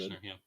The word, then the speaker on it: Kirshner: How do you pronounce it? Kirshner, yeah.